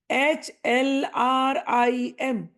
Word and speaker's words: ह्रीं: HLRIM, ये सही उच्चारण है। अगर उच्चारण करने में तकलीफ है तो HLEEM, ये भी उच्चारण चल जाएगा।